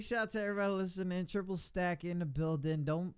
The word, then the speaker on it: Trippple Stak: Triple Stak in the building. Don't say it like don't say it like I did with the S at the end, because you know he was cursing me out in the chat.